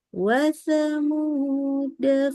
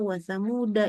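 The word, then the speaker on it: وَثَمُودَا: Oke, tulisannya ada tuh ya, ada lingkaran kecilnya tapi bacanya wasamuda ya. Dia dibaca pendek huruf dalnya. Bahkan kalau kita berhenti di sini kan kita bisa nih depannya ada apa kita berhentinya di kata wasamuda ini. Maka waktu berhenti kita bacanya bukan wasamuda tapi wasamu jadi betul-betul alifnya pun dianggap enggak ada ya diabaikan.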